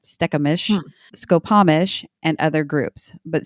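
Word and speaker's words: Stkamish: They were a network of villages from the Duwamish, Stekamish, so that's another one. That's STK is how you start that. Stekamish, Skopomish, and other groups.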